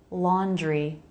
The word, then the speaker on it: laundry: And often Americans pronounce the DR cluster so it sounds like JR. J. Laundry. J. Dri. You can make a DR cluster dri, but you don't have to. You may find it easier to make a JR cluster. That's fine. That's what most Americans do.